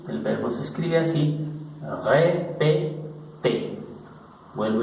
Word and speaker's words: répété: Porque cuando este es un verbo, el verbo repetir, répété, cuando termina el verbo en esta consonante, inmediatamente al pronunciarlo, quitamos esta consonante y al quitar esa consonante, esta T viene automáticamente a pronunciarse como si tuviera en el español este acento.